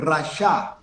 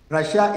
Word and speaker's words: rasha: The word wicked is from the Hebrew word rasha. Rasha is spelled R-A-S-H-A, rasha.